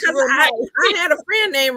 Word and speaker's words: Renee: Hey, Rena. Hey, Renee. Oh, I said Rena. Is it Renee? It's Renee. Her name is spelled the same as my middle name, Renee.